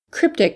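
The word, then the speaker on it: Kryptek: Cryptic has a unique spelling. It's K-R-Y-P-T-E-K. Cryptic with a K. Cryptic was derived from the words kryptos and technology.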